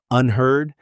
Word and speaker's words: unheard: Unheard. Yes, it rhymes with herd like a herd of cattle.